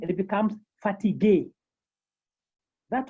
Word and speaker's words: fatigué: We can have another example where we can have l'accent aigu, like fatigué, the adjective fatigué.